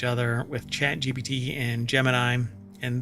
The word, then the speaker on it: Gemini: gbt and Gemini and this is pronounced Gemini but the space uh the the the um astronaut Space Project thing what do you call it I don't know anyway it was jimini which is a weird pronunciation for it but I guess that's that's how it's supposed to be pronounced anyway so far we